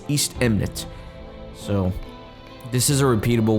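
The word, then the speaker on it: Eastemnet: the way i'm sorry i keep saying eastman but the proper way to say it is east eminent so this is a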